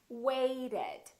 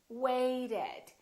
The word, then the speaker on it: waited: Listen to this: waited, waited. So this ED has an extra syllable.